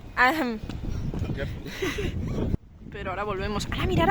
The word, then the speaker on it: Arnhem: Pues mañana iremos a Arnhem, pero que no se dice así porque se ríen de mí cada vez que lo pronuncio. The name of the place we go tomorrow. Arnhem. Arnhem. Arnhem.